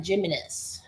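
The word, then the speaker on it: Giménez: Well, there's the gem Jimnis. G him. That's pronounced him. Hi M.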